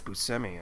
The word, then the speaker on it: Buscemi: the Fargo Steve Buscemi it's AI think it's Buscemi actually it's Buscemi he was on Gilbert Godfried oh yeah I've been saying it wrong this entire time why